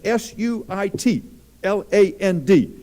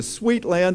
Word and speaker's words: Suitland: and if you're going to be teaching at s-u-i-t l-a-n-d as a young lady was a few years ago and told me mr zarin i'm going to sweet land elementary school i said dear we don't have